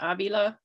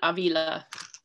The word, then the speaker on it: Avila: last name is pronounced avila not avila it is like the spanish city or the catholic saint okay thank you um